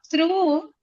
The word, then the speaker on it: through: OUGH is pronounced as oo. One sound.